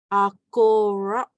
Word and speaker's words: Akorak: And again, it has the double A to start with, so we know it's an ah sound. And it in the middle we have AU, so we know it makes the O sound.